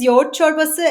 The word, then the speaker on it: Yoğurt çorbası: Like first the name it is y chbasa as you said uh that g is silent in Turkish so it is y and that y chbas is also named as yala chbas or dun chbas.